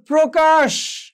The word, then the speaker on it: প্রকাশ: যেমন ধর প্রকাশ, তো প্র, এখানে ওকারান্ত হয়েছে।